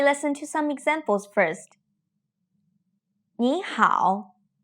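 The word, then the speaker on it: 你好: 你好，很好。你早。 You've probably noticed that the first character, which is also the first syllable, changed into a second tone.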